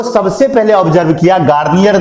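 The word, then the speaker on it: Garnier: सबसे पहले ऑब्जर्व किया गार्नियर ने। हाँ, गार्नियर, वही जिसका फेस वॉश आता है, वही सेम टू सेम स्पेलिंग भी वही है, लेकिन ये फेस वॉश नहीं है, ये साइंटिस्ट का नाम।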